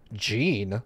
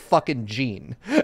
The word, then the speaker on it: Jin: on gx like i i pronounced the character's name which is jean sakai and everyone's like gene like an old guy name like gene and i'm like no like a japanese guy named jean